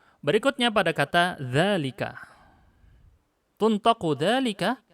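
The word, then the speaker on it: ذلك: Tuntaqu dzalika, kita ucapkannya panjang. Dzalika.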